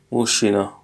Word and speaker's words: мужчина: Mushina. Actually, the A is not written like this. You do the N and then you do like that. So it's written Mushchina, but it's just pronounced as Mushina.